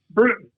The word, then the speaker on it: Bruton: How do I pronounce it, Jim? Bruton.